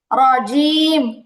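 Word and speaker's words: الرجيم: Second হচ্ছে রজিম, এখানে জিমটা, জিমের উচ্চারণটা আসে নাই, এটাও কেমন যেন অন্যরকম শোনা গেছে, কেমন?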